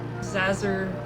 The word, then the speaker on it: Zazzer: story's doing on purpose it's professor zazzer like laser who was his head